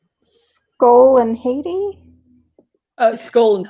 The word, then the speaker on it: Hati: So this one, Scott, I'm probably pronouncing it wrong. Skull and Haiti? Skull and Hati.